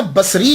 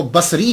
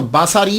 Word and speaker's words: بصری: وہ کہا جاتا ہے۔ لیکن ایک بات یاد رکھیے گا کہ جب آپ اس کو تلفظ کریں گے تو باساری نہیں کریں گے، سواد کے اوپر زبر نہیں پڑیں گے۔ اگر آپ نے سواد کے اوپر زبر پڑا، باساری بن گیا، تو اس کا معنی